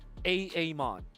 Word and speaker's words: Amon: Now you're pronouncing it correctly. Amon.